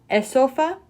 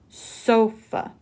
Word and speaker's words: sofa: The initial S sound is tricky. It's not esofa, just sofa. How many syllables? 2. Make sure that S is clearly pronounced.